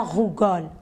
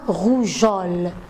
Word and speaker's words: rougeole: La rougeole. Donc, vous voyez, la rougeole. Pardon? La rougeole. J'ai intercalé un E entre G et O pour pouvoir prononcer correctement le mot la rougeole.